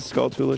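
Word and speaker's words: Skulltula: the end of the skull Tula should probably be pronounced the same you say tarantula but I refuse it's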